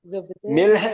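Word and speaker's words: ملح: പറയുക മല് എന്ന് പറയണം കഥയിൽ ഷോപ്പ് കീപ്പറിൽ അല്ല മിൽഹ് എന്ന് പറഞ്ഞാൽ ഒറിജിനൽ അറബികൾക്ക് മാത്രമേ മിർഹ് എന്ന് പറഞ്ഞാൽ അറിയാൻ പറ്റും അതാണ് ശരിയായ ഉച്ചാരണം പക്ഷേ മല്ല് മെല്ല് എന്നാണ് പറയുക ഓക്കേ അടുത്തത്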